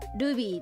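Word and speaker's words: RWBY: てるかな、LWBY だったかな、でルビーって読む、あの今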